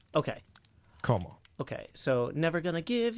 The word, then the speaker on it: kommer: And then, so is real quick though, is the O in Kommer, how do you say Kommer? Kommer. Like Homer but with K. Okay. Kommer.